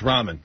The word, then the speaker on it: ramen: know if they were Roman or Ramen no it's Ramen that's how you spell it r-a-m-e-n I thought there's Ramon